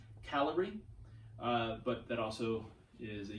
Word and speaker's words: Kalari: We say Kalari because it's easier to distinguish from calorie. Somebody who's more familiar with Sanskrit and other Indian languages, please correct me. Let me know how it's pronounced. But from what I've been told, it's calorie.